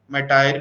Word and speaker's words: MITRE: और इसको जो मैनेज करती है वो MITRE, मैटायर भी बोलते हैं, मीटर भी बोलते हैं, MITRE, मल्टीपल प्रोनाउंसिएशंस होती हैं इस वर्ड के लिए.